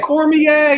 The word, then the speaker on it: Cormier: Cormier is the pronunciation.